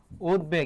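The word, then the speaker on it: উদ্বেগ: তার উচ্চারণ হবে দেখো বফলা এখানে মাঝে আছে তার উচ্চারণটা হবে কি উদ তারপর হবে কি বেগ উদবেগ এটি হবে উচ্চারণ বিশয়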